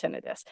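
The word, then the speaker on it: tinnitus: or if they do they don't know his pronounced tenidis so we really really really have to break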